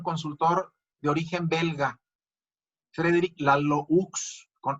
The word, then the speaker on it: Laloux: Se escribe Laloux, con X al final. Laloux. Se pronuncia Lalou. Es un investigador y es un consultor de origen belga. Frederick Laloux, con X al final.